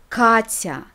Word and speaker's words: Катя: As we saw, a combination of t followed by ya is pronounced as tya, Katya, not Katya.